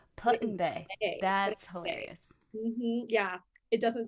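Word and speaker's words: Put-in-Bay: also in ohio called putting bay which is that's spelled put like p-u-t like put dash in dashbay putin bay that's hilarious yeah it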